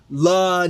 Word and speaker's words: LA: looking at this uh La Knight as a potential candidate La Knight Oh you mean La Knight what I say it's pronounced L A oh I I thought